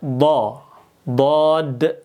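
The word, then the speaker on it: ضاد: Kalau dal itu ujung lidahnya nempelnya keras. Da. Da ini da. Tapi kalau d do itu dia dia memakai apa? Ini lidah kita dia pakai bagian sini. Ini nempel ke geraham. Geraham atas nih. Geraham atas nempel ke geraham ini dua sisi ini. D bisa pakai dua-duanya atau bisa pakai salah satunya. Kita baca dod.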